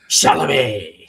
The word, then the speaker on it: Chalamet: My daughter, my middle daughter is like in love with Timothy Timothy Chalamet. How you say his last name? Chalamet. Chalamet, yeah. You got to say it like Adam Sandler.